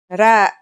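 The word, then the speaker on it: راء: our first letter is RA its closest English counterpart is the letter R but it's a different sound that must be learned ra it's not too hard to pronounce though right note how it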